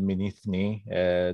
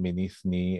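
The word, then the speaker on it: Mînî Thnî: i'm from morley and we call it minithne they actually call it minithne and rewritten everything the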